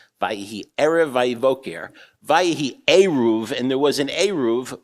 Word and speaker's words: eruv: However, it's not pronounced erva. That means something else. It doesn't help you carry on the Sabbath. You have to say eruv.